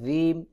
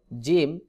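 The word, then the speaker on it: جيم: দিয়ে উচ্চারণ করতে হবে অনেকে জিম এইভাবে উচ্চারণ করে এটা ভুল উচ্চারণ জিম জিহ্বার মধ্যখান থেকে চাপ দিয়ে উচ্চারণ করতে হবে যেমন জিম জিম দাল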